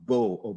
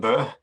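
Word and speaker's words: Bø: I am personally very disappointed you're not from Bo or Boo or whatever it's pronounced as. You have to give me the correct pronunciation on that one because it's got the line through the O. Floor is yours. Thank you. Yeah, that's pronounced it's in Bö.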